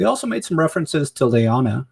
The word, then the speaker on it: Lyanna: Lyanna Lyanna um and he was saying like how